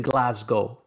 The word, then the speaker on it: Glasgow: Watch tonight on SmackDown because they're in Glasgow. Hey, Hey, see, it's a North American thing. I think us North Americans butchered it and decided we're gonna pronounce the W, which it's for show.